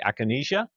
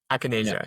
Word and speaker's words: Acanasia: But you pronounce it I'm sorry. Aanesia. Aanesia.